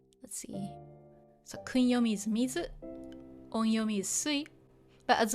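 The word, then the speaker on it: 水: So if you see mizu, the kanji on its own, it's pronounced mizu, and it just means water.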